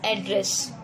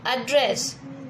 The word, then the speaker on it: address: और एड्रेस in Hindi I am writing the pronunciation. जब आप ऐसे बोलोगे एड्रेस, नॉट एड्रेस, एड्रेस, it means हम किसी को संबोधित